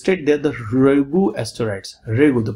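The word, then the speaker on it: Ryugu: will go it's late there the ru asteroids regu the pronunciation you should know r y u g regu asteroids and to collect the mineral sample that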